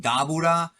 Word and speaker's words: Dabura: And that is Gohan versus the Demon King Dabura, whose name really should be pronounced Dabura or Dabura, but it doesn't really matter to most of you. Just wanted to say that to be correct.